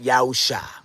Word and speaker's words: Yahusha: So we, take that spelling, and then from that spelling, we remove the Nakud, and with the ancient pronunciation, we get Yahusha, without the wa in the space between the shin and the ayin, because that word shua